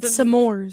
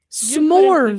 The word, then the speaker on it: s'mores: You've said samores. That's how you say it. That That's not how you say it. How do you say it, dude? S'mores.